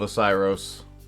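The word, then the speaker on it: Oceiros: So, the Twisted Tale of Osiris, pronounced correctly this time.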